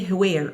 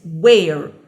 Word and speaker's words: where: else where where okay pay attention here because H is silent we don't say where okay it's where where okay I'm asking